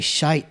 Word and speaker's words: shite: __ ] they say shite shite almost like there's an e on the end of it it depends but yeah